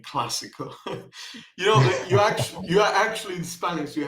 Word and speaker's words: clásico: That basically tells you which letter you have to pronounce more. So it's clásico.